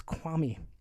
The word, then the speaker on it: Kwame: kwame brown yeah and you're saying kwame wrong it's kwami kwami akwam kwame it's